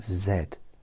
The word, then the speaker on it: Z: think call it Z it's not Z it's Zed that's how it's the